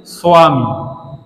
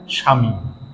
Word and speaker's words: স্বামী: যেমন আরো উদাহরণ দেওয়া যায়, স্বামী, এটা হিন্দিতে সংস্কৃতে উচ্চারণ হয়ে থাকে স্বামী। কিন্তু বাংলায় এখানে সমস্যা, বাংলায় কিন্তু এখানে সহজভাবে উচ্চারণ হয় স্বামী। স্বামী বললে কিন্তু বটা উচ্চারণ হচ্ছে না।